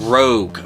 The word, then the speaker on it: ROG: It's not the Asaias rogue ally.